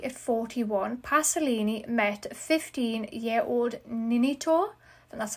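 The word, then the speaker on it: Ninetto: Then in 1963, at 41, Pasolini met 15-year-old Ninito, and that's how you say it, who he later cast in one of his movies.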